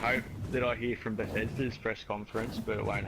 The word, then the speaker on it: Bethesda: cannot say their name to save me life Bethesda Bethesda there we go Bethesda Bethesda Bethesda um yeah well I I can tell you what I hope that I hear from bethesda's press conference but it won't happen is a